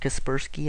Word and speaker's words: Kaspersky: you can go to caspers Sky or kasperski I've heard it pronounced and just type that